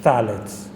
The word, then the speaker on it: phthalates: It's known as phthalates. It's P-T-H-A-L-A-T-E-S. Phthalates, pronounced phthalates. It's a chemical put into plasticware, cups, bottles for baby milk and all this.